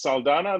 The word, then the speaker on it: Saldana: i'm good i'm very i love the way you say my name you pronounce it properly exactly how it said that's how my mom would say thank you liz uh